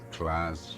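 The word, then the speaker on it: Klaasje: Class, yeah.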